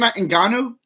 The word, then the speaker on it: Ngannou: I mean, from Francis Ngannou's side, this is an incredible story.